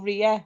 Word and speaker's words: Raya: So I pronounce it as Raya or Ria, whatever. But it's Raya actually.